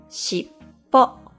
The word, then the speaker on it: しっぽ: Shippo, or tail.